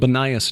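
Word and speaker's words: Banias: Judd Burton did his doctoral dissertation on the religious history of Benias, called Benias now because of the Arabic pronunciation of the P vowel, formerly Panias because of the Greek god Pan.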